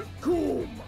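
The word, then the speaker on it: Recoome: Rikum, it rhymes with doom.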